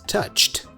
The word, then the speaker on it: touched: we talked about this some regular verbs in English have a t sound at the end just like in this clip touch in the past becomes touched you see we have